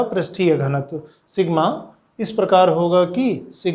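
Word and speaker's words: sigma: Surface charge density सिग्मा से प्रदर्शित करते हैं, आधा ना की तरह बनता है हिंदी के, ये इसका उच्चारण है सिग्मा।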